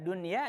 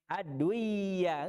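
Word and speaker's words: دنيا: Nah, ada nun sukun ketemu dengan ya, harusnya bacanya apa? Idgham biguna, tapi riwayatnya yang sampai kepada kita baca dunya, nunnya izhar, tetap dia nampak nun, nggak aduya, nggak, tetap bacanya dunya.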